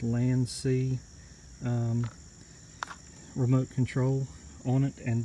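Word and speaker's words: LANC: with a LAN see you may have heard it recalled blank but proper pronunciation is LAN see remote control on it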